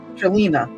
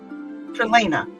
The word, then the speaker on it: Trelena: Trelina. No, what did I say it? Trelena. Trelena. No. Did I say it right? That time you did. Trelena.